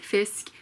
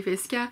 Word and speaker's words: Fiske: And they read Fisk, but his name is written Fiske. And if you're gonna pronounce it as you would pronounce it in Norway, you would say Fiske.